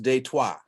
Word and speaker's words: Detroit: born and raised in detroit and for those for those of you in the know is pronounced de trois oh oh oh really